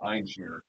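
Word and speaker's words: Ein Shemer: I was told by someone, a Jewish person, pronounced Einschmier.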